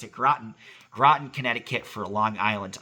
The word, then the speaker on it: Groton: Thank you, Amy, for telling me how to pronounce it. Groton, Connecticut, for a Long Island audit, which will be very interesting.